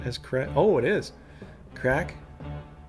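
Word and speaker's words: craic: sling for fun enjoyment by the way it's pronounced the same as CRA oh it is crack crack yeah com source of misunderstand okay well if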